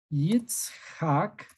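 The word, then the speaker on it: יצחק: Yitzhak, así, Yitzhak. Así se escribe Isaac.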